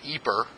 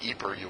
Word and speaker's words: EPR: gauge or sometimes called eeper I'm not making that up sometimes it's pronounced eeper not have to pronounce